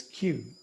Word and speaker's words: queue: that is called a queue i just like the letter q q yeah i'm gonna write it in the chat okay thanks it's the pronunciation is q like the letter q okay how important is